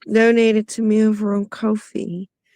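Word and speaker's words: Ko-fi: He just donated to me over on Kofi. Katie is pronounced Kofi.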